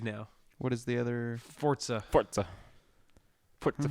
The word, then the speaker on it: Forza: Forza.